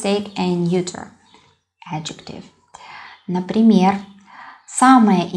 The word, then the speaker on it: самое: Yeah, I pronounce интересное, самое, but we spell it with о.